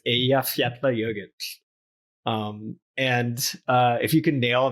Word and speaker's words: Eyjafjallajökull: And there's like 100 YouTubes of news anchors flubbing the pronunciation. It's Eyjafjallajökull.